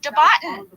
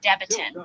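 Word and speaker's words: Debatin: guys Big Ben Franklin news we found Jackie debotton Elizabeth the stripper however her last name is actually pronounced deiton Jackie deiton but you might remember she is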